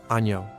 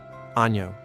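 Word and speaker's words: año: The letter ni has a NY sound like canyon. Year. Ano. Ano.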